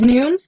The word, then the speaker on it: Nun: in you in so I don't know if it's none or noon it's noon new like new like this is a new day or something yeah pronounced it